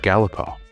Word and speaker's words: Galipo: it so today we have with us Eric galipo did I get right you did you got